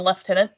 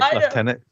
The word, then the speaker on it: lieutenant: uh I'm going to call him Lieutenant Titus but I I I think they call him left tenant because they pronounce it different and it's weird to me but whatever that's UK thing I think right leftenant yeah